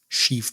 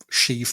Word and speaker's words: Sheev: Sheev Palpatine. It's short for Sheevan. Is it really? No, I just like that it rhymes with Steve.